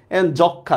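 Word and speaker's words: যক্ষ্মা: যক্ষা, দেখছেন কোন চন্দ্রবিন্দুও নাই, মর উচ্চারণ নাই।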